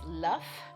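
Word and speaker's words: Loef: a Little Dutch boy his surname is luff which is spelled l-o-e-f and he is the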